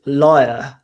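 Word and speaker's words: lyre: And it's no coincidence that it rhymes with liar because this frequency is lying to us.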